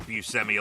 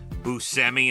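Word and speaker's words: Buscemi: And he stopped pronouncing it Busemi a long time ago and now it's Busi and that's that's just the way it is.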